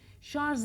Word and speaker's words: şarj: İngilizce'den Fransızca'dan yabancı dillerden geçen kelimeler içtiyse doğru telaffuz edelim değil mi şarj Emelim o zaman şarj diyelim şarj bunu beyninize